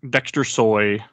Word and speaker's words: Dexter Soy: tomasi the artists are Allison Borge and dester Dexter soy that's how you say it uh those are